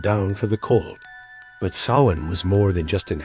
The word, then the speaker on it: Samhain: Samhain, pronounced Samhain.